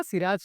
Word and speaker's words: Siraxx: तो वो था मेरा सिराज का pronunciation, it will be like सिराज, बट लिखने में it will be like x.